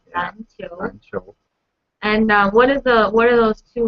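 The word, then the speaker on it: 篮球: 篮球 Lan is qiu. So it's yeah both are second tone, right?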